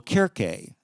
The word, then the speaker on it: Circe: And the letter C in Latin was always hard, right? Weni, witty, wiki, right? Cicero, Caesar, not Caesar. So when they pronounced it, it was still Kirke, C-I-R-C-E. But, over the centuries and millennia, the C got soft, and we say Circe.